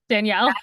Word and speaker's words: Danielle: Danielle. Let me restart that. I was like, I literally If you go to Starbucks Danielle. or anywhere else, it might be spelled like Daniel, but it is Danielle.